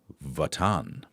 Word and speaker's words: Wotan: Wot Wotan is pronounced Votan.